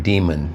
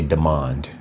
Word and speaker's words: Demond: And uh uh Deand Wilson and someone did a podcast uh and they were pronouncing his name Demon Demon Wilson but it's really Demand Demand Wilson. D E M O N D.